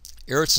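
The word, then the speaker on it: ארץ: Erits eritz is one of a handful of words that when we put a definite article on it the vowel in the first syllable changes and so it becomes arits instead of erits.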